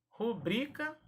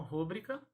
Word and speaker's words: rubrica: Rubrica, paroxítona e não rúbrica.